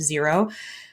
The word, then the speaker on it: Xero: online accounting software called xero which is actually spelled x-e-r-o but pronounced zero those two tend to